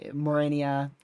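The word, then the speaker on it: Mariana: Uh, because it might hit towards the the northern uh, Marennia, that's how you say it, islands, and then potentially go up towards South Korea or uh, or southern Japan.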